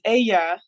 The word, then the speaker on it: Ella: I'm half Colombian so Ella would would be SP or and pronounced as Aya in Spanish which means she so that wouldn't have